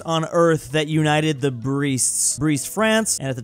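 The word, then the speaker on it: Brest: Breast. Oh, I feared that. That's not okay. I was really hoping that it wasn't that pronunciation, but Breast. Here we are.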